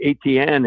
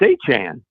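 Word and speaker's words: Etienne: And in his first press conference, he says it's not ATN anymore. And I live not far away from a family of ATNs. They spell it the exact same way, said it that way. And he said, it's Achan.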